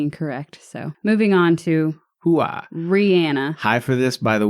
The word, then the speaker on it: Rihanna: But how it's pronounced and how she clarified it was Rihanna is her name.